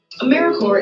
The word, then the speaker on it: AmeriCorps: Sometimes people pronounce the P, but don't make that same mistake. AmeriCorps is alive and well, just spelled with a silent P.